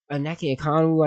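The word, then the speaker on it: Onyeka Okongwu: This is a team that has a bottom 10 paint defense, relying on Aneke Okongwu, I think is how you say his name.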